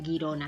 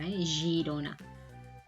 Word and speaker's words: Girona: U, pero por ejemplo, si tenemos la letra G delante de una I o una E, se pronuncia G, Girona, no sería Girona, Girona.